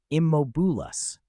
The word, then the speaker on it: Immobulus: "Pronounce it properly. Immobulus," she said, emphasizing the first syllable. "The M must be strong."